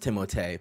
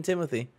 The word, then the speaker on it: Timothée: Nick, in the correct French, it is pronounced Timothée, but in some interview he came out and he was like, yeah, it's always been Timothy.